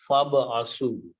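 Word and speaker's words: فابعثوا: Fa, so, ib asu, when you read them together, you do not read this alif. Combine this with the ba, so it is fab asu.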